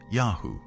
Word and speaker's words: YHW: tsui lived is called yhw probably pronounced yahoo likely the name of their patron god